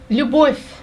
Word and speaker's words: Любовь: Любовь.